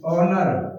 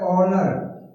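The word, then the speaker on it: honour: नहीं हो रहा है एच साइलेंट है तो एन लगाएंगे जैसे साइलेंट वर्ड ये है ओनर अब एच तो है लेकिन इसका बोला क्या जा रहा है साउंड क्या आ रहा है ओनर एच का साउंड नहीं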